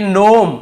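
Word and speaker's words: gnome: भी जी साइलेंट है यहां पर देखिए नोम यहां पे जी लिखा हुआ है सामने लेकिन हमें केवल इसे नोम पढ़ना है जी को नहीं पढ़ना है यह आपका जी का नियम।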